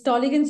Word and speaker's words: Tollygunge: If I get that right, ma'am, can you please pronounce that for me? It's Tollygunge Yuva Foundation.